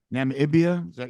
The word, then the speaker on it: Namibia: So Namibia. How do you say that? Namibia?